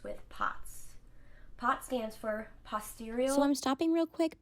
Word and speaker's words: postural: POTS stands for postural. So I'm stopping real quick because I pronounced postural as posterior, which is a completely different thing.